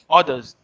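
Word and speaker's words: hors d'oeuvres: the others but the correct but the correct pronunciation is others others is basically a starters in in india we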